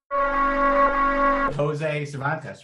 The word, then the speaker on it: Jose Cervantes: Jose Cervantes, right? Did I pronounce that correctly?